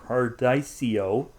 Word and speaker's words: Cardiceo: Sorry, I'm trying to pronounce that properly. Cardiceo it's for correct.